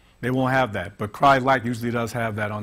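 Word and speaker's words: Crye-Leike: it's not pron pronounced cry Ley or cry likey it's actually pronounced cry like like cry like a baby and they're very popular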